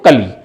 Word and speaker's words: कूल: ऐसे ही कुल और कूल, कुल और कूल दोनों में फर्क है। यहां ह्रस्व ऊ है, यहां दीर्घ ऊ है, दोनों के उच्चारण में भी फर्क है, अंतर है, और दोनों